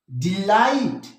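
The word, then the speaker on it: delight: डिलाइट हमारा stress आ रहा है लाइट, ये हो गया स्ट्रेस सिलेबल और ये हो गया अनस्ट्रेस सिलेबल।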